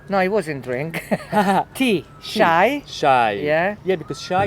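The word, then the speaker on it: شاي: Shy. Shy. Yeah. Yeah, because shy it's a universal Like word. shy. So like Yeah. every country, they almost you can guess it. Shy, Yeah.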